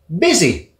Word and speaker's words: busy: busy, Busy, là j'entends occupé, busy, et j'entends que le U se prononce comme un I, comme dans minute.